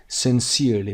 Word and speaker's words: sincerely: Sincerely به این صورت هم تلفظ میشه، استرسش هم روی C هست.